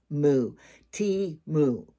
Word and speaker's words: Temu: But somebody told me that they talked to the Temu people and they said, how do you pronounce it? And that's T-T-A-Mu. Temu.